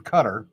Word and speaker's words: Qatar: big hitters in Hamas one is living in Cutter I could deal well it's actually cutter is the correct pronunciation but he is living high on the